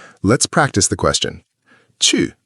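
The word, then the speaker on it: 去: Chu means to go. It's a fourth tone, so it drops sharply. Chu, like a karate chop.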